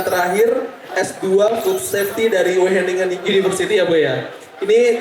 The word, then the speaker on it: Wageningen: Iya, oh Wageningen ya, susah Bu itu dipronounce ya Bu.